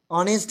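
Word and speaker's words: honest: এরপরে আছে অনেস্ট ম্যান অনেস্ট এর এইচ টা কি আছে সাইলেন্ট যখন এইচ সাইলেন্ট হয়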